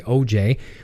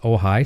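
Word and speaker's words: OJAI: I was also mentioning the power supply was called the OJ which looks like OJ OJ AI it's actually pronounced ohigh so I'm learning the tech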